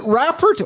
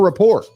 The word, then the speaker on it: rapport: Or is it rapport? Is it rafort or rapport nation? How do you pronounce it? Raert or rapport? Raport. It's rapport. I know it's rapport.